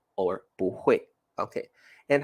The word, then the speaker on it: 不会: The word 不, and here we will pronounce it like 不会.